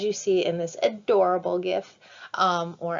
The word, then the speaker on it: GIF: see in this adorable gift or as they now say you're supposed to pronounce it jiff you have a sugar